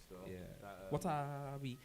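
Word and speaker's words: Watawi: of my favorite Tunes what are we it's crazy because it's spelled how it sounds in it w-a-t-a-w-i tell me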